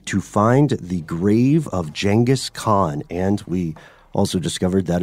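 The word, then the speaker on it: Genghis Khan: likely doomed quest to find the grave of jangus Khan and we also discovered that is the correct pronunciation yes genas Khan is now jangus Khan like like d Jenga like the game new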